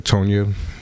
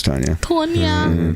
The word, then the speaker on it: Tanya: Tona. Don't want to say your name wrong. No, it's Tanya.